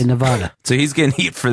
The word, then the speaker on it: Nevada: Nevada Nevada Nevada Nevada well obviously only half of us are right it's Nevada it's Nevada which I've never said once in my life I say Nevada so he's getting heat